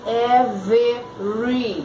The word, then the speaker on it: every: palavra aí gente every Cuidado para você não ler every Ok você não lê esse segundo Ezinho fica every every Ok every month